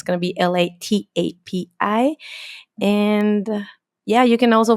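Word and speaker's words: Latapí: Latapi, I like your last name. I was going to ask you, am I going to Am I pronouncing it correctly? Latapi.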